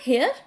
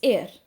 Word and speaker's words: heir: इट्स नॉट हेयर, इट्स एयर, okay.